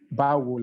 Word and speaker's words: Báwo: So it is pronounced as bawo, like bawo ni.